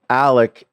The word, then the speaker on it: Alex: come from, but that's what they call him. I mean, it's clearly spelled Alex, but I don't know. They're a little bit more south than I am, so I don't know. They have heavy accents for sure.